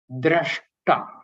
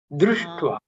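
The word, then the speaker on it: दृष्ट्वा: You have inadvertently pronounced that as drashta. Drishtva.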